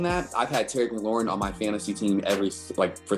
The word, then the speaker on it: McLaurin: McLaurin.